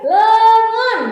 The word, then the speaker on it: leungeun: Oke, nah, hiji deui leungeun. Nah, tapi dibacanya leungeun aja, enggak usah leungeun, enggak usah kayak gitu ya.